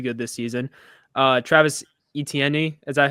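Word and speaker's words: Etienne: this season uh Travis eten is that how you say his name think of like letter e letter T then the letter N okay well he he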